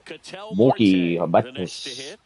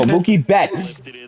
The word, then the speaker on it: Mookie Betts: They pronounce it like this. They go Kuwait. They go Mookie Batis.